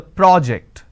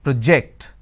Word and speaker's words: project: a first one so when i'm stressing on the first syllable it becomes a noun that means please submit the project i say project this is project here i say please